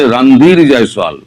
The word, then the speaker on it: রণধীর জয়সোয়াল: আপনারা ভুল উচ্চারণ করেন। উনার নাম হচ্ছে রণধীর জয়সোয়াল। রণধীর নয়।